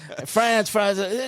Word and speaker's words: Franz: You can say it either way, but I'm from we have an Appalachian root, so it's Franz.